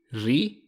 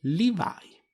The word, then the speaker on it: Levi: Dunque, ri-va-i. Rivai. E considerando che per i giapponesi R ed L sono simili e che altri non è che la pronuncia giapponese americanizzata dei jeans Levi, diventerà effettivamente Levi.